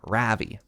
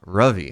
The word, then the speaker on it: Ravi: And he's like, it's pronounced like there is a U in it. I was like, Ruvi. And he's like, oh my God, that's worse. Somehow that's worse. He's like, no, it's Ravi.